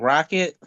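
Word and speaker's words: Roxet: Uh this guy named Rocket. Um he's really good. His name is if you spell it R O X E T.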